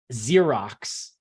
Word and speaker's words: Xerox: if Z if uh if x is at the beginning of the word we pronounce it like Z but in Russian they